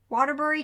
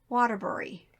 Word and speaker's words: Waterbury: If y'all are from up there, how do you say it? Bury Bury, or right? Berry? Bury. Bury. Okay, like if you're going to bury the hatchet, Mm-hmm. how would you say that? Bury.